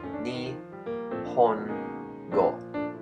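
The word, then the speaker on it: 日本語: is the Japanese language and it's pronounced NE go for the other alphabets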